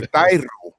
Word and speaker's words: Thairo: You got to roll your R's now for Thairo. Twice for Thairo.